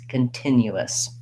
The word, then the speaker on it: continuous: written like ten u all i have to do is add one more little syllable with a schwa and an s continuous when i can say